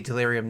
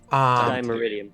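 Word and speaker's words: Dimeritium: pretty much your go-to, is you wear a delirium necklace, right? Or however I always forget how to pronounce that. Dimeridium.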